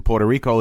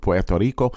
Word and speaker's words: Puerto Rico: In Puerto Rico is how we pronounce it in English, but Puerto Rico.